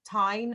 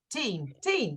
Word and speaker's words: Tine: say your name wrong, Tine or Teen, Tine, sorry. She asked, sorry, I can see you laughing as well, I'm so sorry. Is it Teen, Tine? Teen, good.